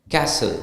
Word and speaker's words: castle: it's just half right castle c a s t l e right the t is silent so it's c a s l e Castle okay so the pronunciation